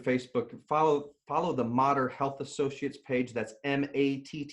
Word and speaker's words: Matter: have Instagram and Facebook and follow follow the modder health associates page that's m80 ter it sounded spelled like matter pronounced like modern modern health associates